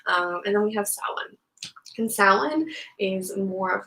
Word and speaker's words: Samhain: byoko and today we're going to talk about salon otherwise known as samhain as i've called it for many many years